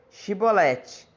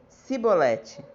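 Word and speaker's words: Chibolete: Se o homem negasse, eles os mandavam dizer: Shibolete. Se ele era de Efraim, dizia Sibolete, pois o povo de Efraim não conseguia pronunciar essa palavra corretamente.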